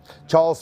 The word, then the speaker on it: Charles: a Charles L clerk it is Charles he yako it's Charles cuz it's amazing how it's spelled it's spelled Charles incredible okay so we